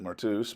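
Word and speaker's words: μάρτυς: There should be obvious concerns and problems about that, but in any case, the word martis, some would pronounce it martus, but martis in modern Greek is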